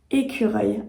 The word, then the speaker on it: écureuil: finalement les sons etq alors ici c'est vrai qu'on a le son U qui peut être un peu compliqué aussi à prononcer et enfin le mot reil reil qui finalement ressemble beaucoup au mot œil donc voilà du coup